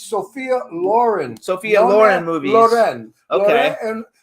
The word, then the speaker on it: Sophia Loren: uh Sophia Loren movies uh Lauren Lauren it's Sophia Lauren Sophia Lauren movies okay and what quantities when